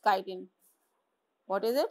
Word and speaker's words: chitin: It's not chitin, it's chitin. What is it? It's chitin. Chitin. Okay, pronounce it chitin.